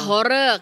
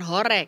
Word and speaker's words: horeg: Oh, jadi pengucapannya "horeg," kan? Bukan "horek," kan?